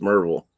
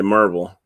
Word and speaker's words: Maryville: road called maryville m-a-r-y-v-i-l-l-e but here it's pronounced marvel if you say you